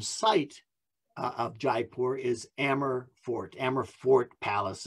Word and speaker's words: Amber: of amber palace um amber but spelled like amber a-m-b-e-r so this is this